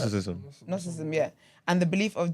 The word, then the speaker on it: Gnosticism: Gnosticism, yeah.